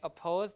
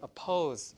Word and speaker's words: oppose: Okay the syllable that's stress stress meaning that you have to emphasize that syllable like oppose you don't say oppose like that you say oppose like that.